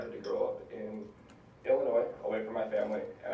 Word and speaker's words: Illinois: I'm a senior from Crystal Lake, Illinois, and for all you Minnesotans, yes, the S is silent.